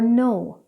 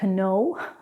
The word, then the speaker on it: know: Whenever you have K and N together, the K is not pronounced, like in the words ni or no. It's not kni, it's not kno, it's ni and no.